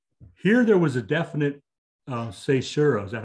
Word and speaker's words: caesura: Here there was a definite caesura. Is that how you pronounce it?